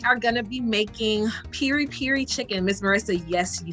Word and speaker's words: piri piri: So today we are going to be making piri piri chicken.